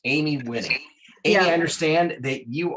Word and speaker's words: Wiening: how do you say how do you say your last name it's winning winning okay you know